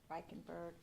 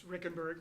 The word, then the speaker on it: Reikenberg: And with me today is Reikenberg. Did I say your name right? It's Rickenberg. That Rickenberg. Okay. It's It's not pronounced the way it looks.